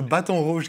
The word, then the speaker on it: Baton Rouge: able to pronounce that name because it's a baton rouge guitar and that's how you pronounce it yeah absolutely and weirdly enough it